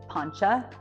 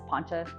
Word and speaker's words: Poncha: Poncha Springs, just like Poncha, like a poncho without the O, it's Poncha, simple.